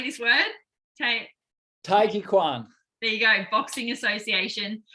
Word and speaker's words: Taijiquan: So my biggest passion is Qigong, and I pronounce it Taijiquan, but you probably know it as Tai Chi. I just pronounce it in a much more traditional sense.